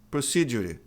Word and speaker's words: procedure: Procedure. Procedure ainda falam e no final. Se a palavra for inglesa, esse e não é pronunciado, assim como nome n a m e name.